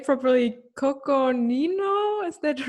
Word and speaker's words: Coconino: cowboys i'm not even sure if i can pronounce the name properly coconino is that right yeah that's it who's involved